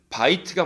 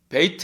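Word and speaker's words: בית: 여느 미 달라집니다 그래서 원래는 이 단어는 바이트가 맞거든요 집은 바이트 입니다 근데 이게 에 일과 연결 되니까 베이트 가 된 거예요 그 빨리 읽으니까 벧엘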